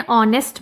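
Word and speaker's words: honest: नेक्स्ट है एन ऑनेस्ट मैन। ऑनेस्ट में भी एच साइलेंट है।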